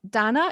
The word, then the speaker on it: Dana: You know, on the first day of school going down the roll like Dana, no, it's not Dana, it's Donna.